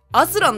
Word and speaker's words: 朝藍: これはな、朝の藍色と書いてアスランだ。アスラン？